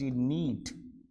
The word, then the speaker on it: knead: जैसे मैं पहले वाला लेके आ रहा हूँ KNEAD, नीड। ठीक पढ़ा आप लोगों ने मेरे साथ, पढ़िए दोबारा से, नीड, जिसे आप ये वाला नीड कहते हैं, ये वाला नीड, इसका भी प्रोनाउंसिएशन सेम है बेटा, नीड। और ये भी क्या बोलेगा, नीड। ये दोनों नीड बोलते हैं।